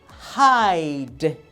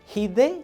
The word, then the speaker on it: hide: Hide. Esconder. Hide. Noten otra vez que no estoy pronunciando hide ni hide. La E es muda.